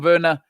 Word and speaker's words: Werner: You look at Tom Werner or Tom Werner, as the Americans say, and you go and look at John W.